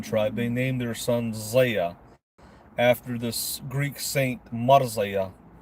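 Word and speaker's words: Zia: Why is Elvis's name Zaya? Well, first of all, let me just say this. I'll answer that question. My name is spelled Z-I-A, but it's actually pronounced Zaya.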